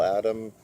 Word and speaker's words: Adam: been doing the Bill Adams routines and the Bill Adam routine. I always like to pronounce his name with an S.